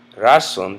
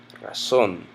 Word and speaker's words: razón: Same thing with la razón, la razón. We know that it's not razón because it has a written accent mark. It makes it razón.